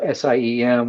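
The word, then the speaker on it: SIEM: The SIM uh project uh SIM which pronounced SIM or just stands for security information and event management.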